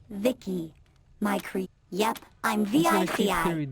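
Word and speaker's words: VICI: Holy binary buttocks, you're the by the way, I'm V.i.c.i, pronounced Vicky.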